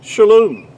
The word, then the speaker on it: shalom: It's pronounced really to be more accurately would be shalom.